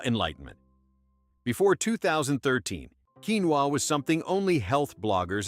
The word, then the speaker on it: quinoa: It's quinoa Karen, not quinoa.